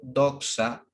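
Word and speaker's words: δόξα: y esta palabrita griega que está aquí se pronuncia doxa dice que depende de las informaciones del mundo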